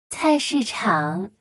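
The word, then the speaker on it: 菜市场: 菜市场菜市场菜市场菜市场 Caisachan, that's a lot of syllables for market.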